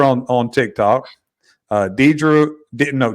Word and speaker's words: Deirdre: I met her on on Tik Tok uh Dedra no deardra I actually pronounced it right the first time we talked